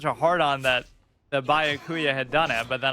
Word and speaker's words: Byakuya: Byakuya is Bayuka, or Chihiro is Chirio, or who else?